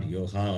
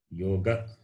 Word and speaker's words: yoga: So yoga, it is not yoha also. Yoga, it should be pronounced properly.